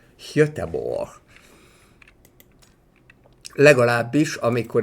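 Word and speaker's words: Göteborg: I know exceptionally well, this should be pronounced in Swedish as höteborg höteborg at least when I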